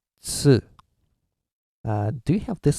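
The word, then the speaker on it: つ: They always go chu, chu, but it's tsu, okay?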